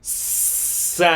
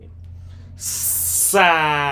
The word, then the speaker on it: Sábado: Only this first A here has the accent, which is the letter A. Sábado. Sábado.